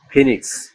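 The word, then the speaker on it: phoenix: হয় দীর্ঘ ইর মত শব্দে ও ই এর উচ্চারণ হয় দীর্ঘ ইর মত যেমন ফিনিক্স পি এইচ ও ই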